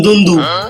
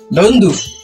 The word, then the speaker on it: দুন্দু: আমার নাম দুন্দু। কি ধন্দু? দুন্দু দুন্দু ধন্দু উচ্চারণ করতে পারেন না, এই জন্যই আপনি গরু।